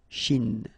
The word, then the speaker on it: Chine: Remember, don't insist on the E. Chine.